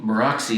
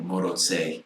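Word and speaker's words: Maróczy: instead of alioshi and moroxy is actually pronounced something bizarre like moto sei but you know that's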